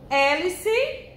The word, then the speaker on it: hélice: Hélice, não é com E, primeiro vem o H. Hélice, o H ele não tem som, ele é mudo, viu?